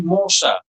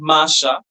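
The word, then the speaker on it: mon chat: So it will be mosha, not masha because of what sha this spelling in masculine.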